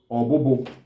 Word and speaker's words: obobo: Okay, so caterpillar, some parts of Igbo call it obobo, some call it ofufu. Obobo is spelled as O-B-O-B-O, obobo.